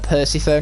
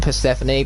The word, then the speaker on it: Persephone: got to talk to percy phone right here and i know it's pronounced persephone but as i've established every single stream i'm going to call her percy pho just to trigger all